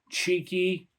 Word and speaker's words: TXIKI: If you see this TXIKI in the blue can, which apparently is pronounced cheeky, if I'm even saying that right, buy it.